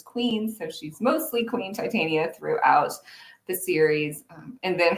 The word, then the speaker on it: Titania: for fairies and, well, I guess Titania is how the name is traditionally pronounced, but I pronounce mine Titania with a very science background.